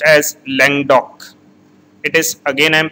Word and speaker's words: Languedoc: Bordeaux, Côte du Rhône, Provence, and it is pronounced as Languedoc. It is, again I am pronouncing it, it is pronounced as Languedoc.